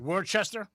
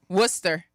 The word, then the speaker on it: Worcester: Well, just just try pronouncing the first town right there. Worchester. Nope. What is it? Worcester.